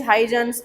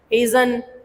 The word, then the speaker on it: Huygens: His name pronunciation is Huygens, Huygen, Hazen. All these pronunciation Huygens have.